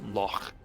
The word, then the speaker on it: loch: And I believe it's also used in, for example, certain sounds in Scottish languages, like loch. Loch. Loch.